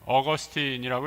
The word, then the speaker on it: 어거스틴: 기독교 역사에서 가장 위대한 인물 기독교 지도자요 신학자 중에 하나인 성 아우그스티누스 어거스틴이라고 이렇게 발음을 하죠.이 이 고백녹록이라는 그의 작품에서 하나님이 자신을 어떻게 기다렸는가 이렇게 절절히 고백하고 있습니다.